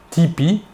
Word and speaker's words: TP: son nom et prénom tony parker a prononcé tipi avec l'accent américain il joue maintenant dans